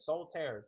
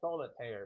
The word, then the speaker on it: Soul Tear: As I said earlier, soul tear. Two words, two syllables. It is not solar. It's soul tear.